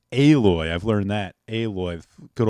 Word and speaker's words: Aloy: make them uglier uh out I I always pronounce it alloy but apparently it's pronounced aloy I've learned that aloy good old fat face